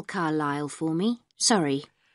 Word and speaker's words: Carlisle: Could you spell Carlisle for me? Sorry. It's C-A-R-L-I-S-L-E. You don't pronounce the S. Carlisle Way.